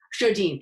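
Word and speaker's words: Sjodin: How do you pronounce her last name? Do you know? Shodine.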